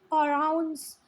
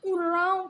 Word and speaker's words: Oraon: Student इसका pronunciation ओराउंस, और जब आप हिंदी में देखोगे तो उराव कम्युनिटी है वो, उराव।